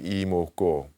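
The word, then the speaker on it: 이뭣고: So let me first explain imoko, the pronunciation of it. I is Y, I, and it means this. And then what is MWOT, and it means what. And then go is GO, and it means is, and it also indicates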